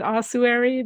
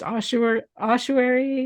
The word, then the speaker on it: ossuary: pronounce it but I I pronounce it osuary but apparently it can be pronounced ossery ashery and ossery and um so it's